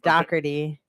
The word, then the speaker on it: Dougherty: We were watching The Godfather for a hot second before we came in here, and so that's how they say my name in New Jersey and Philly. Dougherty.